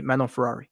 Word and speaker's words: Manon: clip here's your answer this is officially how you say meno there you have it